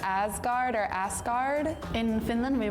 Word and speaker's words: Asgard: Finland we would say this ascar. In Iceland we say Oh. I was so surprised. In Sweden, we would say Oscord.